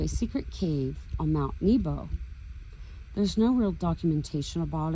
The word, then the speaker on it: Nebo: In Strong's Hebrew 5015, Nebo is actually how it's pronounced properly according to Strong's.